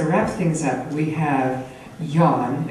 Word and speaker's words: Nhân: And so to wrap things up, we have yawn. It looks like non, but it's pronounced yawn, but that is very opposite of his personality.